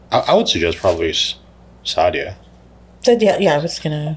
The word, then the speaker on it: Sadya: Um I I would suggest probably Sadya. Sadya, yeah, I was going to I know I'm pronouncing it incorrectly, so that's Sadya. Sadya. Yeah, Sadya. Or like do d y is a j sound, so Sadya.